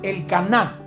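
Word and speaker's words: Elcaná: a un hombre llamado el Cana o como dice en otras versiones, el caná con acento en la A.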